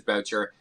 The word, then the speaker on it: Boucher: It is Boucher. I don't know why we pronounce it Boucher. It's funny, wherever I go in the world, people pronounce it all different ways. Like obviously Canada, everyone thinks it's Boucher. In the States, Americans just butcher it. They just literally call me Butcher.